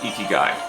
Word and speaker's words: ikigai: The Japanese have a term called Ikigai. It's spelled I-K-I-G-A-I.